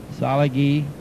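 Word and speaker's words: Tsalagi: the Cherokee language however salagi is how it is pronounced in the Overhill dialect today the Cherokee language is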